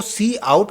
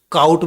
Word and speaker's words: cout: कुछ बच्चे सी आउट को काउट भी बोलते हैं, हम भी पहले काउट बोलते थे, बट एक्चुअल प्रोनाउंसिएशन इसका सी आउट होता है ना।